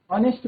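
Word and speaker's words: honest: Spelling क्या होती है? एच ओ एन इ एच टी। बट उसको ऑनेस्ट पढ़ते हैं। एच साइलेंट होता है।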